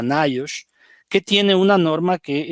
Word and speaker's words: NIOSH: Se le abrevia por sus siglas y se pronuncia NIOSH, que tiene una norma